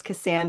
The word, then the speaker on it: Keosayian: It's and I know it's Keosayian, but it's spelled Keosayian.